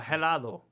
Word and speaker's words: helado: Now, helado. Helado. You don't helado. Want to say, yeah, that H is silent.